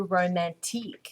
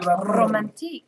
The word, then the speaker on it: Romantique: this is using the romantique no no you're not saying it right romantic line okay you need the the the tongue roll in there romantic romantic awesome so I'm